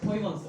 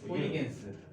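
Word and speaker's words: Huygens: 허이건스. 이게 어떻게 하위건수가 되냐? 호이겐스. 이게 호이겐스인데 미국 사람들이 네덜란드 분이야. 그러면 그 나라 성을 최대한 배려해서 발음해줘야 될 거 아니야?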